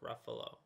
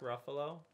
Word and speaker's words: Ruffalo: Mark Ruffalo rhymes with Dark Buffalo.